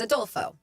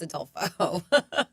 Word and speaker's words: Adolfo: Before I could respond and say my name does not change based on language, the customer whispered, it's not like Adolf, is it? Oh, like, God. no, it's Adolfo.